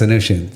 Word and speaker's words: Anoushian: Anoushian.